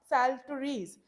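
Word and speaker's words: psalteries: सैलट्रीज यहाँ पे ये देखो ये जो पी है वो साइलेंट है। ठीक है, ये आपको ध्यान रखना है, जो पी है यहाँ पे साइलेंट है, इसलिए हम इस वर्ड को यहाँ से पढ़ना स्टार्ट करेंगे, जिसका जो अनुवाद होगा, ट्रांसलेशन होगा, वो होगा सैलट्रीज। सैलट्रीज एक एंशियंट म्यूजिकल इंस्ट्रूमेंट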